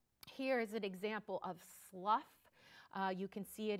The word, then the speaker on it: slough: to describe uh necrotic tissue um can be Slough that is how this word is pronounced s l o u g h is uh pronounced Slough and this is a